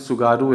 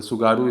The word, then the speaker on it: Tsugaru: ना, उसको बोलते हैं सुगारू स्ट्रेट। हालांकि वहाँ सब टी साइलेंट रहता है, तो TSUGARU ऐसे ही स्पेलिंग उसका, तो जिसमें टी साइलेंट रहता है तो सुगारू स्ट्रेट बोलते हैं।